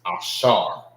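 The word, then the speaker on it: אשר: And how you say Asher in the Hebrew is Ashar.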